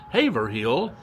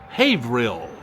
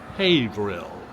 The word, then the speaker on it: Haverhill: The word is not pronounced by the locals as Haverhill. It's pronounced, she says, it's pronounced Haverhill. Haverhill.